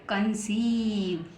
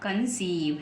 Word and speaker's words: कंसीव: next लिखा हुआ है सी ओ एन सी ई आई वी ई तो बन गया कंसीव तो कन और कंस और ईव कंसीव है ना आप देख